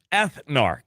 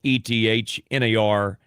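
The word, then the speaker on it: Ethnarch: Augustus named him Ethnar. That's spelled E T H N A R C H.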